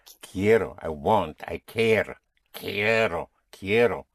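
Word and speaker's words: quiero: I want is Ko. Ko. I want I care. Ko. Ko. Spelled Q U I E R O. The Q has a sound of a K. So kero ko it's I want again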